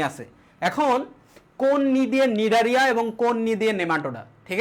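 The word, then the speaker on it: Cnidaria: আমার কথা শোনো দেখো এই নিডারিয়ার বানানটা কেমন হয় জানো সি এন আই সি এন আই ডি এ আর আই এ নিডারিয়া ঠিক আছে ওকে অপরদিকে এই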